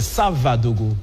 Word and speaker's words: Savadogo: Parce que là, quand j'avais dit Savadogo, vous m'avez tout de suite repris, c'est Savadogo, plus précisément.